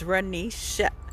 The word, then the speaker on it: Renisha: My name's Renisha, pronounced with the E, sha.